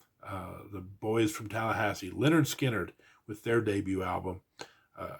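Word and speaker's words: Lynyrd Skynyrd: nominee Sabbath Bloody Sabbath our third album It's pronounced Leonard skinnard uh the boys from Tallahassee Leonard skinnard with their debut album uh again I don't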